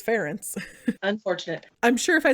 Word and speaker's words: Ferenc: I thought it was, because it's spelled Ferenc. So I was like, Frank? Like, or even like kind of a Hungarian version of Frank. Oh. But then I looked up, I got all these translations in Polish pronunciation because it was as close as I can get to Hungarian. And it's, according to that, it was Ferenc.